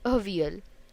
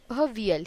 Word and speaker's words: Avial: Its spelling is Avil, but we pronounce it as Avial. Avial.